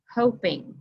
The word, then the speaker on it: hoping: to split our syllables when we do this that creates an open syllable and that would make the O give a different sound the O is going to say o instead of ah so instead of hopping we ended up with hoping that's not what we